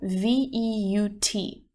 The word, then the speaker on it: veut: we would use veut, V-E-U-T. Little side note, these 3, V-E-U-X, V-E-U-X, and V-E-U-T, even though there's some slight difference in the spelling, they're actually pronounced the exact same way, just veut.